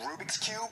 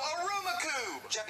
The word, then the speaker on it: Rubik's Cube: roommate are you saying Rubik's Cube no Aruba cube is pronounced Rubik's Cube no it's a Rubik